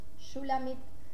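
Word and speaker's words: Shulamith: Shulamit se escribe S-H-U-L-A-M-I-T-H.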